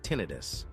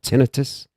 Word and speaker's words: tinnitus: the ear, it's called tinnitus. You'll hear people say tinnitus. It's not tinnitus. It's a uh accents from the third to last syllable.